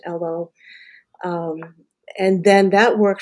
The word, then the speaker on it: Elo: chose Elo, and that is in honor of my father's ethnicity because he was Finnish, and Elo is a Finnish name and, should be pronounced Elo.